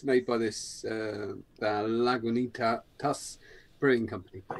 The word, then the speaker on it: Lagunitas: Yeah, underneath here, just there, it says Lagunitas. Lagunitas.